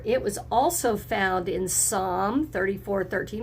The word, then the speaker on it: Psalm: If you remember, it was also found in Psalm 34:13. Remember, that P is silent.